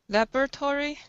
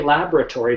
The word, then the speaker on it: laboratory: Laboratory? Yeah, most people say laboratory, but as you can see from the spelling of the word, it's laboratory.